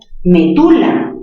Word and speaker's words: medula: Pero también se puede pronunciar medula, aunque les parezca raro, chicos, también es válido. Medula, palabra grave terminada en vocal, no se tilda.